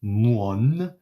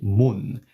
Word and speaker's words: 뭔: So I'm not going to say muon, I'm going to say mun, as if it is written like this, mun.